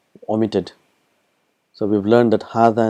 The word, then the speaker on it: هذا: So we've learned that hadha and dhalika is one of those words where it is pronounced but it is not written.